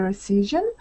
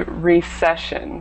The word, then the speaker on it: recession: just one point uh pronunciation point this word should be recession recession okay or session okay great everything else was